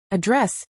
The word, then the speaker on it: address: Address is stressed on the first syllable as a noun, but on the second as a verb.